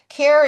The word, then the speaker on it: Caire: So, Care is not spelled C A R E or C L A I R and it's spelled C A I R E, which is care with an I in the middle. It's an anagram for I care.